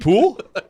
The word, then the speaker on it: Poile: David Poile? No, Gudbranson. Oh, Erik Gudbranson. It's like David Poile? David Poole?